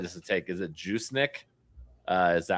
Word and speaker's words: Juszczyk: The answer is probably, I need to add to the next slide just to take, is it Juicenic? Is that how you say his name? Yeah, Juicenic. Juszczyk.